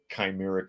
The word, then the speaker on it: chimeric: live birth of a chimeric monkey and I says CH but it's pronounced with a K scientists from China reported